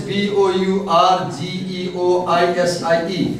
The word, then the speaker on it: bourgeoisie: The other word is B-O-U-R-G-E-O-I-S-I-E, we pronounce as bourgeoisie.